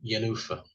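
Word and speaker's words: Jenůfa: The Macropolis Affair in Yanufa, which is spelled with a J as well, but sounds like it's got a Y, so there we are.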